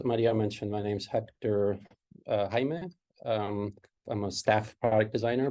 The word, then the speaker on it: Jaime: And Jaime is Jaime. You just pronounce it that way everywhere.